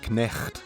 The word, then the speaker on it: knecht: The Dutch equivalent of the word knight is knecht, meaning servant. Notice how in Dutch the K is pronounced.